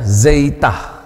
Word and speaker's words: Zeta: kemudian Zeta ya huruf besar kecil transliterasi pengucapannya ya Delta eh sori Za ya zeitah zeitah Nah ini nanti ada seperti pada k